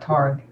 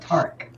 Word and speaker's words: Tark: That sounds, yeah, not Targ, but Tark.